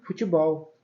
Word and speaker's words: futebol: E futebol. Bol é forte, por isso essa palavra também é uma oxítona.